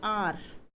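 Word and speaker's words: hour: जैसे आप एक शब्द लिख रहे थे अभी आर, आवर नहीं बोलना बच्चों इसको, इसका साउंड होता है जो ये, इसको आप उच्चारण करते हो आर, ठीक है।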